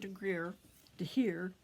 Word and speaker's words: De Gier: And of course we have Grijpstra and De Gier. G's are pronounced H in Dutch, and I'm trying to